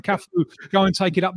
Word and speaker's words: Cafu: And Cafu, perhaps unfortunately for him, his name rhymes with arse in Portuguese.